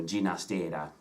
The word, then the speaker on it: Ginastera: years of his life he did prefer to have his name pronounced with the catalan pronunciation with a soft G sound is in George so Gina's data rather than the Spanish